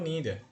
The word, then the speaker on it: neither: Neither or neither. Both are correct, right? Both are correct in the sense. Usually British English they use neither and American English they use neither.